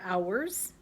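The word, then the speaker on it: hours: lot the words are ours with a silent H and July and then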